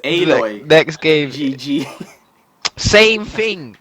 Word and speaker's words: Aloy: I said alloy. Her name is Aloy.